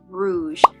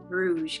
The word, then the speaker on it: Rouge: into this month was Rouge I say it like that every single time I announce it Rouge cuz I feel like that's how you have to how you have to say the title it is the newest